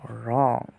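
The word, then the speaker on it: wrong: আর থাকে তাহলে এই ডবলিউর উচ্চারণ হবে না তার মানে হচ্ছে রং মানে রাইট হচ্ছে কি রাইট মানে লেখা একই সেমভাবে রং অর্থ ভুল রং অর্থ ভুল এখন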